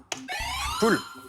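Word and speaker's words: pull: Prononce-t-on, Luc, prononce-t-on pour donner l'ordre de lancer le plateau en argile? Poule.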